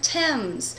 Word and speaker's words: Thames: Well, most of us would say th, but we have these rules about when it doesn't say th. For example, if you've ever cooked with the spice thyme, or you've ever been to London and sailed down the Thames.